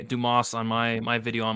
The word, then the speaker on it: Dumas: Cody Brundage going against SD you call him dumbass it's pronounced Dumas but I mean like you know it could go it looks a lot like dumbass um but yeah it's actually Dumas it's special delivery Dumas is what I'm calling